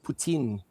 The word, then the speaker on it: poutine: You know, with the Franco-Canadians, they pronounce it Poutine. It's very strange, but we pronounce it here puto.